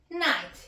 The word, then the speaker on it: night: We don't pronounce the G and H.